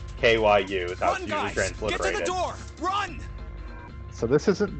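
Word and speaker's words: 九: that the japanese number nine is cute yeah pronounced q kyu transliteration run so this isn't the nine door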